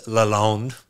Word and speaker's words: Lalonde: It's Lalonde. Here's your complimentary. Yeah, perfect. Nice pronunciation.